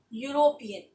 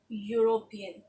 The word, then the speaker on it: European: boom he is - European so but you can see it starts with a wobble but does it pronouncing also know it's pronouncing a consonant sound so we write here he is a European okay next one once